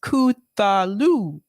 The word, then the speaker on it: Cthulhu: Bad Cookie said it's pronounced Cthulhu.